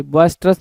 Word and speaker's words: boisterous: तो यहाँ पे ट्रस लिखा हुआ है, हमें टेरस बोलना होता है।